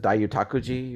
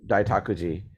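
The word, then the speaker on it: Daitokuji: I was just talking to someone who spent a couple years at I always mess up this pronunciation. Is it Daiyutakuji or Daitakuji? Daitakuji.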